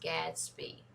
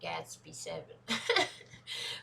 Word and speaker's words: Gatsby: two is a giveaway don't pronounce the seven it's pronounced gadsby because gas speed spells